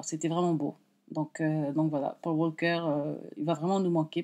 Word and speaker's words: Paul Walker: Alors, le revoir à Paul Walker. Paul Walker. En anglais, on ne prononce pas le L.